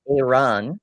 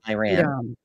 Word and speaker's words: Iran: Theo says it's pronounced Iran, not Iran.